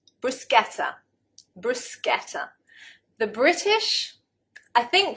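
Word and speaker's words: bruschetta: with a rather strange expression and corrected my mispronunciation brusketa brusa the British I think probably 9 9 times out of 10 we'll pronounce it brushetta brushetta and of course it is a foreign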